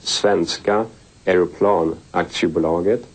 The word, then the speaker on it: Svenska Aeroplan Aktiebolaget: Saab, that is four letters, S-A-A-B, and it stands for, in Swedish it's pronounced Svenska Aeroplan Aktiebolaget, and translated into English it is Swedish Airplane, and Aktie is the same as stock.